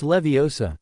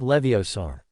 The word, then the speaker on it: Leviosa: "It's Leviosa, not Leviosaur." Ron said in a high-pitched voice, mimicking Hermione.